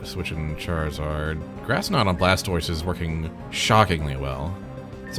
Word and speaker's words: Blastoise: Yeah, Blastoise always makes a good puzzle opponent. So far 100% of the puzzles contain Blastoise. Yeah. Or to use the French the French pronunciation, Blastois.